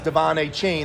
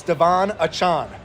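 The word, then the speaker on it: De'Von Achane: and in their program in Miami it says Devon a chain and that's how you pronounce it but after the kids scored four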